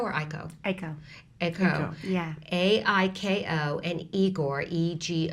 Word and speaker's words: ICO: the ICO spelled is that the way I pronounce that a CO or iko iko iko yeah ai ko and igor EG 0 r tell us about